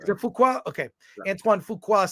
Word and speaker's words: Fuqua: The director, Antoine Fuqua, I'm probably pronouncing that incorrectly. No, that's right. You got it right. Is it Fuqua?